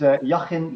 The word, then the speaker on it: Jachin: to be here and I think you almost had it right my name it's shocking let Wally and I think